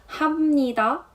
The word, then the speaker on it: 합니다: speaking you would say 합니다. Here you write it with -ㅂ but it sounds more like an ㅁ, Especially when you put it in a sentence, it's to make it easier to pronounce.